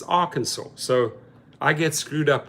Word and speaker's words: Arkansas: always say Arkansas the people so it's not Arkansas it's Arkansas so I get screwed up with pronunciations of a lot of US cities and